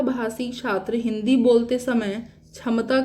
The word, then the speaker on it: क्षमता: 6 हिंदी का है, क्ष बोलते हैं इसको, क्ष, ये क्षत्रिय वाला छ है। ठीक है ना, ये क्षत्रिय वाला छ है, लेकिन जब आप इसको ओडिया में प्रोनाउंस करेंगे ना ये छ को, तो इसका प्रोनाउंसिएशन ख्य होता है।